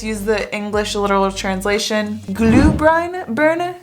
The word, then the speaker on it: Glühbirne: Last one, I hope I pronounce this right because I always just use the English literal translation. Glühbirne? Glühbirne.